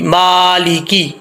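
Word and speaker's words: مٰلِكِ: اکثر لوگ پڑھتے ہیں مالک یوم الدین، ایسا نہیں کرنا، مالک، یہ بہت بڑی مسٹیک ہے، میم کے اوپر کھڑا زبر ہے، سٹینڈ زبر ہے، ما، میم سٹینڈ زبر ما، لام زیر لی، مالی، کاف زیر کی، مالی کی، ٹھیک ہے۔ اس کو کی پڑھنا ہے، کے نہیں پڑھنا، مالی کی، یو، یا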